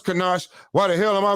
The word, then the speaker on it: ganache: I said, how you pronounce it? Is it Kanash? And he laughed. And he said, it's Kanash.